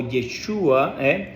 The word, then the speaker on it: Yeshua: religioso que de nombre Josué o jesua o yeshua es como se pronuncia que es el mismo nombre de nuestro